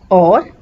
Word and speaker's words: aux: A means at or to. A plus le contracts and becomes o. A plus la remains a la. A plus le contracts and becomes aux. The pronunciation is again o.